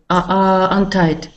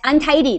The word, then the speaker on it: untidy: Untied. Yes, untidy. That was the right way to say.